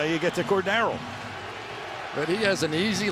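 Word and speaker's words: Cordarrelle: last night I said cord darl and that's the correct pronunciation with the accent on the second syllable is that a family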